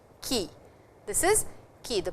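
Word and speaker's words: 木: Ki. This is ki. The pronunciation is ki.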